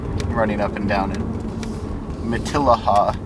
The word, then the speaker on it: Matilija: up and down it maaha if you're if you're curious that's how the that's how the locals pronounce it but yeah as I